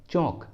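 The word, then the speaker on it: chalk: For example चौक, चौक, इस English word में एल ए के बाद आया है इसलिए यहाँ पर एल साइलेंट है इसलिए सही उच्चारण होगा चौक, चौक।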